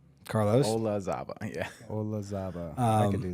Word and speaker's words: Olazaba: Carlos, I'm going to need help pronouncing your last name. Olazaba. Carlos? Olazaba, yeah.